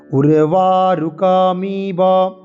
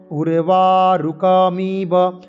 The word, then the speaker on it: উর্বারুকমিব: উর্বারুকম ইব, এই জায়গাটায় অনেকের কনফিউশন, অনেকের দ্বন্দ্ব থাকে। উর্বারুকম, উর্বারুকম ইব, উর্বারুকম ইব বন্ধনাৎ মৃত্যুহ আছে, তাহলে সেটা হচ্ছে কি বন্ধনান হচ্ছে। আমরা বলবো কি উর্বারুকমিব, উর্বারুকমিব বন্ধনান, বন্ধনান তন্তন হলন্ত, বন্ধনান